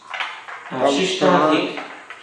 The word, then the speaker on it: Shishtadhik: we don't pronounce the A at the end of Shishtadhik, yeah, Palan and You Sevan.